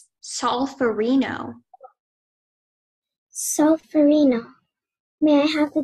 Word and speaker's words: solferino: solferino.